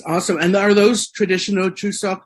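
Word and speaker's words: 추석: And are those traditional Chuseok? Am I pronouncing that right? Chuseok? The name? Yeah, you're pronouncing it perfectly.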